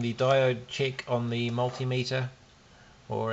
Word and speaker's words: multimeter: on the multimeter or as uh Ben heck says the multimeter I do disagree with that pronunciation because it sounds absolutely strange to me me but uh if you think of other meters like altimeter you wouldn't say altimeter maybe someone does I